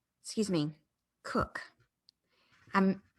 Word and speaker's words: Coke: man named sir edward coke excuse me cook i'm mispronouncing that it happens often it is it looks like coke the drink but it is cook sir edward cook in